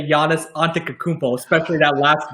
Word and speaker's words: Antetokounmpo: It can either be Poe or Beau at the end. But I go by the NBA's official pronunciation with Beau because I don't want to get fired anytime soon. So I do what they tell me to do, right? It's Antetokounmpo is what I would say at the end.